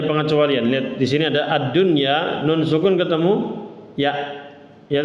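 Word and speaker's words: الدنيا: nah ini satu sehingga dia izhar mutlak dibacanya jangan duya tapi ununainal jahima hial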